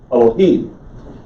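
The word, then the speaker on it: אלהים: it's an unvocalized vowel the emphasis is on the third syllable so it's elohim elohim if you say elohim it's because somebody has put a capital e in an english transliteration and told you that was a word for god they weren't wrong it's just that this is how you pronounce it in hebrew elohim okay and when they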